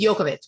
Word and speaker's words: Djokovic: like uh what's the tennis player's last name djokovic the proper way to say it in that part of the world is yokovic yeah like there's like a play with that